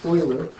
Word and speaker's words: Euler: It's pronounced Euler.